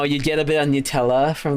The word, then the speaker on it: Nutella: It's pronounced Nutella. It's not nut.